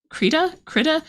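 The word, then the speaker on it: Krita: By the NASA supercomputer specifically for um animating in Critter. Is do you guys pronounce it critt or kitta? Creta.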